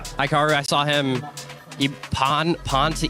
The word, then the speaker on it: Hikaru: I saw Hikaru, is that how you say it? Yeah. Hikaru, I saw him pawn to E4 sacrifice.